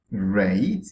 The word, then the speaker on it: rate: let's words for instance if you look at this word rate you see an e at the end of it that's called the lazy e it's also called the silent e you can also call